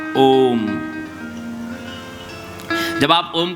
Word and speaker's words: ओम: ओम नहीं कहते हैं ओम अकार उकार मकार ओम जब आप ओम का